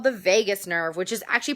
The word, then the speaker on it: vagus: vagina and the last one is called the vagus nerve which is actually pronounced or written vagis v-a-g-u-s the vagus nerve and it really it's